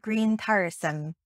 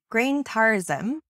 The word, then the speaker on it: grientairisem: and that word was green tyrosine now i'm pronouncing that as if it's modern irish but it's very possible it was pronounced completely differently that is a much